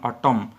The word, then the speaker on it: autumn: एवं आज रो शेष question which letter is silent in ऑटम ऑटम रे किए साइलेंट अछि AUTUMN रे किए साइलेंट अछि केउ लेटरटा साइलेंट अछि आमे केमिति एटा को पढि थाउ ऑटम बोली पढि थाउ ऑटोमन बोली पढि थाउ ऑटोमन बोली तो केबे पढु ना तो सेति पई कोन साइलेंट रहउछि एन साइलेंट रहउछि कोन साइलेंट रहबो N which letter is silent